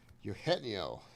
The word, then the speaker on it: Eugenio: Basso, Teran Doyle, Corbin, Carol, Henry Carpenter, Eugene, Eugenio Suarez, Yueno.